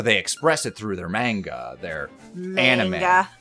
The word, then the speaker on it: manga: I'm sorry about that I put the emphasis on the wrong syllable the emphasis put the